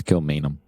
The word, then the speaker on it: Kilmainham: wanted to say that one more time it's kilmainham cheminum camino kilmainum that's how you just pronounce it i like how you do it